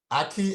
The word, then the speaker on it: ackee: So he has to unmute and tell me how to pronounce it again, Peter. It is ackee and saltfish.